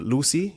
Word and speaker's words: Lucea: There's this place in Lucy, Jamaica. It's not really. It's spelled Lucea.